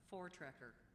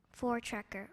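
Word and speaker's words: voortrekker: in 1834 through 37 for treer for treer are they any alternate pronunciations no there are not we pleas have the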